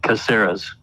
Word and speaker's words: Caceres: first started working together we had to decide whether it was going to be casares or caceres he's got two an uncle and a grant to follow the business and so they he pronounced it like they did caseras yeah he does some